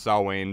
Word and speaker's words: Samhain: tour and I know that Sam Haynes actually pronounced saw Wayne but I think the band calls it Samhain so I'm sticking with that too I like